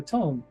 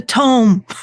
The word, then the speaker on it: tome: inside the tomb or the tomb the Tome there we go oh that makes more